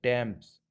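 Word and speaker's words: Thames: Fourth है, कई बार टी H Hindi का अक्षर ट की ध्वनि देता है। जैसे टी ए एम ई एस, टैम्स, मतलब एक नदी का नाम है।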